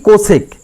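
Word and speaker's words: cosec: আমাদের কোসেন্ট কে উচ্চারণ করা হয় কি? কোসেক।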